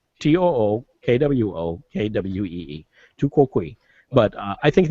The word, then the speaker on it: tu quoque: It's tu coke. It's the U2 fallacy. No, it's it's tu quoque. Tu quoque. Tu quoque. Yeah. Tu quoque. Tu quoque. It has a pronunciation guide there. Tookwokee.